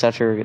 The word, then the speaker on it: Satoru: It's Satoru.